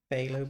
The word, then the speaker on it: phthalo: ready whenever you're ready for dinner h is pronounced f in this case ah okay phthalo blue interesting okay let's take some of that